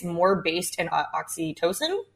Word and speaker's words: oxytocin: It's more based in oxytocin. Am I pronouncing it correctly? Yes. Yeah. Okay. Yeah. It's more based in oxytocin, the love chemical that